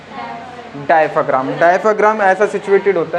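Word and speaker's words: diaphragm: डायफ्राम।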